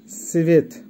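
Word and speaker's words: цвет: Colour বা রং এর রাসায়ন হবে সিভেত। আবারও বলছি সিভেত। ক্রাসনি, ক্রাসনির অর্থ হবে লাল, উচ্চারণ হবে ক্রাসনি।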